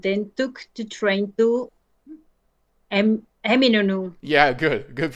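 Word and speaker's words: Eminönü: I visited Hagia Sophia and then took the train to Eminonu. Yeah, good. Good pronunciation. Eminonu.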